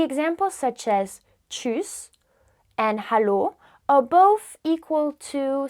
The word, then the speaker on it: Hallo: Hallo, hallo. Pronounce the H.